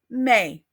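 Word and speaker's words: mes: Ma and a plural may remember we don't pronounce that S at the end of May so let's go through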